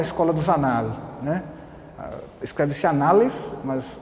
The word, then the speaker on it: Annales: Escreve-se Annales, mas o francês pronuncia-se Annales, né?